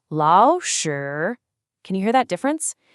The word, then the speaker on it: 老师: Whenever two third tones are next to each other, the first one magically transforms into a rising second tone. So the correct pronunciation is actually 老师.